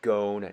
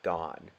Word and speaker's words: Gon: dbx for this too it's pronounced gone not gone moving forward let's see